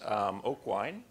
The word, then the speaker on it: Aucoin: I'll turn it over to Aucoin. Did I pronounce it right?